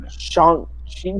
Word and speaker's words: Shang-Chi: They have a whole trailer where he pronounces it to Aquafina. It's Shang-Chi. Shang-Chi.